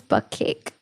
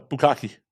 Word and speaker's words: bukkake: I always thought it was butt cake. No, bukkake. Bukkake. Because Tadpole would say bukkake, and I was like, I think it's butt cake. No, it's bukkake.